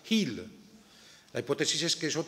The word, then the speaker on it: hil: En el sur del país decimos hil, sin H, pero en el norte del país todavía pronuncian la H, hil.